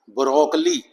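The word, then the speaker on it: broccoli: वो स्व साउंड है यह वर्ड गौर करो। ब्रोकली ब्रोकली क्या होती है? यह भी एक जो अपना गोभी होती है फूल गोभी। गोभी की फैमिली की ही एक सब्जी है। तो यहां जो ओ की साउंड आएगी इसकी ब्रो। शो आगे का करेंगे हम। यह जो साउंड है यहां स्वा साउंड है।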